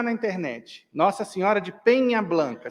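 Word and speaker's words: Peña Blanca: Nossa Senhora de Penha Blanca. Se escreve P-E-N com o tio em cima, que é do espanhol, Pena Blanca.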